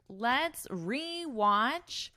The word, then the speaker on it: rewatch: And notice my pronunciation. We pronounce this as a full e. It has that long E sound. So it's not like a watch.